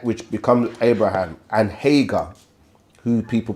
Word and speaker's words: Hagar: Which becomes Abraham, and Hagar, who people pronounce like Hajar, Hagar, or Hakare, through their son Ishmael, or they say Ismail or Ishmael.